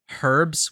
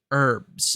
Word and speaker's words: herbs: my brother told me the pronunciation of herbs was herbs as in with a silent h but I keep hearing